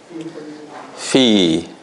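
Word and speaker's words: في: We say it with fi, with the two haraka, because it's harf al-mad.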